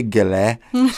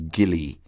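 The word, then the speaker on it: Gillie: me and they would say, "Miss Alice, where Gile say you all come here Gile?" His name is not Gile. His name is Gilly.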